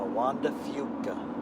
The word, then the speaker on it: Juan de Fuca: Well, he's Spaniard, so he's not Fuca. Yes, it's Fuca. It's the Juan de Fuca. Juan de Fuca. Yeah, nobody says that here. Well, that's how you pronounce it.